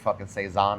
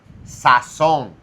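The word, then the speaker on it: sazón: First of all, don't ever say Seaison again cuz I will How do you say it? It's Saon.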